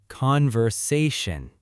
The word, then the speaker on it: conversation: Conversation. The stress is on the third part.